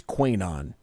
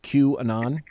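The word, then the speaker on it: QAnon: who or what is Queen on okay is that what it's how it's pronounced Q and on okay chewing on chewing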